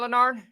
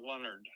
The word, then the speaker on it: Leonard: catching a good time lonard yes you got a few minutes right and it's pronounce Leonard Leonard yes okay I am so